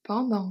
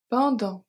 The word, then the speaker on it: pendant: Un château de sable, un château de sable, so sable, the E is silent, pendant que ma mère lit un livre. Pendant, the T at the end is silent.